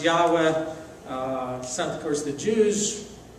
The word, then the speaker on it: Yahweh: sent me to you in Hebrew it's kind of pronounced something like Yahweh it's a variation of